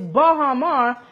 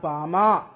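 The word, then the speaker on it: Baha Mar: baham really open and for those who've been possibly pronouncing the word wrong it's bahamar and not Bahar you you you can't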